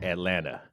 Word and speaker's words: Atlanta: I lived in Atlanta we only pronounce the T the people that live there say Atlanta with no te so I'm working on